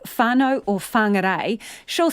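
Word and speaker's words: whānau: speaks today or Marty she drops the H in WH words and pronounces it as though it was just a w that's because she's from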